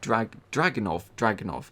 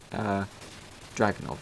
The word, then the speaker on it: Dragunov: Google, how does one pronounce Dragunov? Okay, Dragunov, okay. Dragunov.